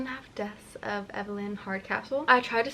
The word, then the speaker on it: Evelyn: of Evelyn Hard Castle apparently it's Evelyn that's how like the narrator pronounces it so I've been saying it wrong this entire time there has been